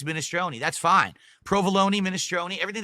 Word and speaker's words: minestrone: In Italian, it's pronounced minestrone. That's correct.